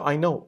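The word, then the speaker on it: AiKnow: Ai No right but it's pronounced as I know okay right but it's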